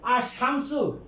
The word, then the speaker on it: الشمس: তারপরে আছে আর শামসু মানে সূর্য, এই সিন এটা হরফে শামসিয়া, এটা আগে যে লাম আছে উচ্চারণ হবে না।